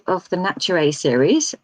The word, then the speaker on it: Naturae: Okay, so Destiny Arising is book 3 of the Naturae series. I'm going to say that's Naturae, not Naturae, because it's spelt nature AE.